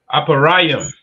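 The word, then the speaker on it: אפרים: How do you say Ephraim in the Hebrew? You can call it out Aparayim. Aparium, right? Which is A Pa Ra Yum.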